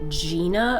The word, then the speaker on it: Jena: Branson invited his friend Gina over. It's spelt Jena. However, everyone I've heard talk about her calls her Gina. So we're gonna call her Gina, okay?